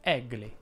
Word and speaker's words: Egle: a seconda della nazionalità egle è pronunciato in molti modi in giro per il mondo ma mi sento di dire che in italiano si pronuncia aperto egle lo stesso discorso vale